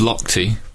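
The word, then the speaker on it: Lochte: c h t e yes I I claimed locked but I'm sure I I said locked as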